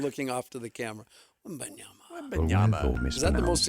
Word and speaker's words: Wembanyama: It is, say it with me, 3 syllables. Wembanyama.